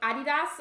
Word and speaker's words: Adidas: I pronounce it like Adidas, but I've heard that some people will pronounce it like Adidas, and the way that